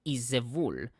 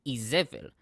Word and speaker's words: Izevul: The correct, quote-unquote, pronunciation of the name is Izevul, but the Masoretes changed it to Izevel, meaning no dung.